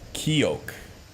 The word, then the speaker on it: seoch: Seoch. Pronounced Keok. Keok? It's a Gaelic word.